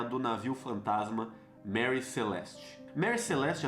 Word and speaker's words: Mary Celeste: Mary Celeste, às vezes pronunciado como Marie Celeste, por causa de algumas inconsistências na história.